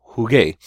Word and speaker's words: jugué: Juego, I play, I'm playing, becomes jugué.